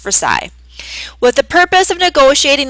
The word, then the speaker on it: Versailles: old Royal Palace in Versailles France that's pronounced Versa with the purpose of